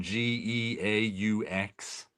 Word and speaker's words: Geaux: That people always write Go Saints, but spell it Geaux.